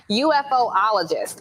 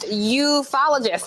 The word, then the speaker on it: ufologist: that there is something, I'm going to mispronounce it first and I'll say it the correct way, UFOologist, but it's actually pronounced ufologist, I believe.